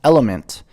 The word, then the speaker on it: LMNT: have all this magic lmnt pronounced element is a tasty electrolyte